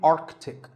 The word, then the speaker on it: Arctic: pole of the earth it's mispronounced by many as arctic but it's actually arctic the sea in the middle is not silent similarly antarctic and antarctica